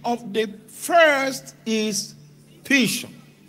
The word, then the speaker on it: Pishon: It said the name of the first is Pishon. Now, you are using English pronunciation. The Hebrew pronunciation. Okay, let's use your own. Pison. That is it which compassed the whole land of Havila where there is gold.